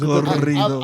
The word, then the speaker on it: corridos: Say it with me, Corridos. Troy. Sorry, roll your R's. Corridos.